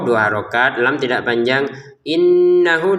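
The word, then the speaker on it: إِنَّهُ: Innahu di sini ada didengungkan ya. Innahu hunya dua harakat.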